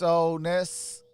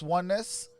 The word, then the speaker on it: Oness: 2K Henry, when you say my name is Oness, not Oneness. Oh, because it looked like Ones. But it's Oness.